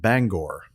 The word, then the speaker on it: Bangor: It says it's pronounced Bangor.